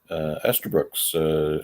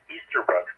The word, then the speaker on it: Easterbrook's: You're at Esterbrook's. How's that hot dog working for you? Well, I tore myself away from that place, and it is Easterbrook's. It's spelled that way, at least.